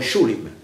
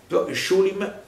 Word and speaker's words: Schulim: a Daniel dove schulm questo suono che in tedesco si scrive SCH shulin lì è scritto S con l'accento slavo quell'ente e che si pronuncia poi schulm schulm e e detto ma